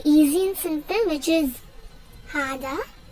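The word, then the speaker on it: 하다: Now I'll teach you how to pronounce it. It is very easy and simple, which is hada. H-A-D-A.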